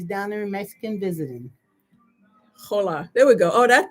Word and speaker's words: hola: Hola. I know that. And it's hola. Is it like a head or is it hola? You don't. Yes, the H is silent.